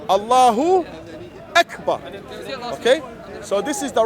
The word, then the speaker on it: Allahu Akbar: and then you say X but then say Allahu Akbar okay so this is the right way to